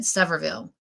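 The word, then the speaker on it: Sevierville: Severville. That is You are correct, Suzanne. That is how it's said. Severville.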